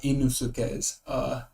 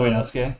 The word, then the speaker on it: Inosuke: Oh, they had Inusukes. Oh, Inosuke?